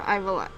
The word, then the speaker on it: Ivalice: Is it Ivalice or Ivalice? It's Ivalice. I think that's how you say it.